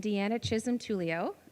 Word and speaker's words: Deanna Chisholm Tullio: so we're pleased to have Ruth McDonald and Deanna Chism Tulio uh Dean I hope hope I'm pronouncing your name correctly perfect uh so a